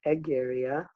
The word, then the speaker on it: Egeria: he loved the goddess Egeria Nigeria or in Latin pronunciation the egg area so let's say that